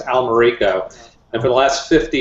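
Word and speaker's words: Almerico: people mispronouncing your name it's actually pronounced Al Mariko and for the last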